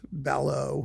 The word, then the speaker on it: Ballot: That's Remy Ballot. Balo. However, you want to pronounce his last name. ballot if you do it in English.